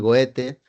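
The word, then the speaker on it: Goethe: goete vieron ese escritor yo lo pronuncio en español goete que que escribe un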